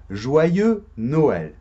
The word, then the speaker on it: joyeux Noël: Se dice joyeux Noël, ¿de acuerdo? Cuidado con la pronunciación. Joie, joie, como ua en español.